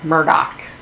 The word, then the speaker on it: Murdoch: pronunciate the guy's name it's Murdoch like do Murdoch heard it from Paul